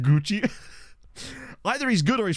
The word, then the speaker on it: Gauci: Yeah, it's pronounced Gucci.